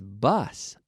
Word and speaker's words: bus: bus they Alto bouche so boss jefe boss ah ah imagine I'm at the dentists ah say ah Kyle ah boss boss boss whereas bus uh-uh-uh us bus MA now ask me if